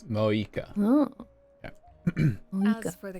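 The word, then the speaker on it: Mavuika: Oh, and feel free to call me Mawika. It's what all my friends call me, and I like it that way. So the V is silent. It's Moika.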